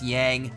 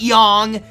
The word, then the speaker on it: Yang: we've already been there it's yang not Yong Yong yeah young rhymes with dong I don't know I